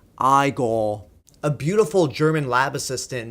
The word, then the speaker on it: Igor: Now, it's pronounced Igor.